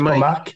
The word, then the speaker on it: Mick: Mike. Mike. C'est Mike. Mike? Oui. Mike. C'est écrit Mick, mais c'est Mike.